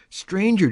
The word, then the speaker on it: stranger: Stranger does not rhyme with anger.